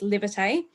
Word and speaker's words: Livitay: It's like live it and then AY.